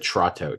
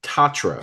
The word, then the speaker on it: Tatro: I think I said Trotto. Tatro.